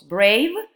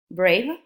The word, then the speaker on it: brave: As in the examples, brave, you know this E is silent, brave, and then we don't need to write two E's, no, braver, and then bravest.